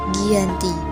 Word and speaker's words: Giyanti: yakni di desa jati dalam pelafalan Belanda disebut Giyanti g h i j a n t i secara tertulis di Hai dan secara terbaca sebagai Giyanti gi yanti88 Rang dikenal